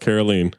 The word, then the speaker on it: Caroline: It's pronounced Carolene the whole time cuz it's French.